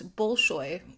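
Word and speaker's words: Bolshoy: I may not be pronouncing that uh correctly. It's Bullshoy for sure.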